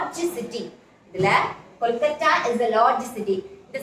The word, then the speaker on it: Kolkata: Here we have to pronounce this Kolkata. இப்படி சொல்லணும். Kolkata ன்னு தான் சொல்லணும்.